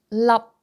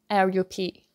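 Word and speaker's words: 粒: And for P sound, then you close your mouth and your lips together.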